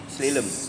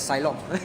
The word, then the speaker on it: slalom: enough to actually do slalom. I see. I pronounce it as Silom. So it's Silom or Silom? Slalom. Silom, huh? Slalom.